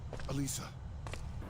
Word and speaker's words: Alyssa: Alyssa. Alisa. Alissa. Alisa. Alissa. Alisa. The only thing we can guess about that is simply that it's the Japanese pronunciation of her name, which is backed up